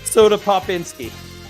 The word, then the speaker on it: Soda Popinski: Soda Popinski.